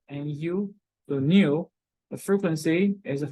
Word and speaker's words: nu: frequency is this is what we call the new it pronounced like Nu the new the frequency is Hertz it's talk